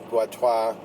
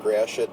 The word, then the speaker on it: Gratiot: Many of the streets here, Beaubien, Lafayette, Gratiot, Guatois, as it should be pronounced, but we pronounce it Gratiot, just like the bad word.